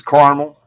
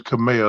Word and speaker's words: Caramel: how you say it it's caramel caramel okay I thought you told me one time it was Camille that's what I was